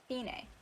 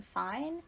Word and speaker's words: fine: a central plot point in the main story finay how the unit name fine is supposed to be pronounced most people i'm pretty sure call them fine hence the distinction mika and suzu are twins